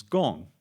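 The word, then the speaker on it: 公: Uh the pronunciation is gong in both Chinese and Korean.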